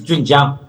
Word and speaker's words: Jun Jiang: And so my name is Jun Jiang. I'm from China, but my Swedish friends always call me Yun Yang because that's how Swedish to pronounce the J word.